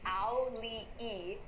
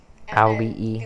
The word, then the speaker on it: Auli'i: So it's ow, like you stub your toe, Lee like Bruce Lee, and then you add another E. So it's Auli'i. Auli'i.